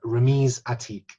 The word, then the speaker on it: Ramaize Atique: It's Ramaize Atique. Okay. All right. Very close. Got to make sure the pronunciation is correct.